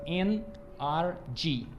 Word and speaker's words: NRG: pronunciar em Inglês fica NRG que é exatamente a pronúncia da palavra em inglês energia então ele é um